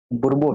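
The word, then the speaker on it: Bourbon: ये बुर्बो spelling mistake है ना, बुर्बो है।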